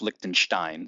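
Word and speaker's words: Lichtenstein: His name is Roy Likenstein. I've also heard it pronounced Likenstein, so you can go whatever way you want.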